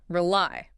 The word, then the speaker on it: rely: Rely. Really why? Stress on the second part. It sounds like apply.